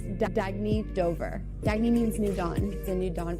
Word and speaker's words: Dagne: oh it's pronounced dagney do Dagny means new dawn it's a new